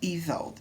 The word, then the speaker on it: Isolde: Her name is pronounced Isolde.